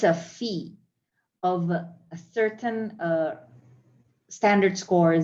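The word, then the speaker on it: phi: me google that huh it's not omega what is it anyone it seems to be a fee oh thank you how do you say it oh it's a fee oh okay i might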